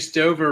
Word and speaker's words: Stover: Kate Stover rhymes with it's over.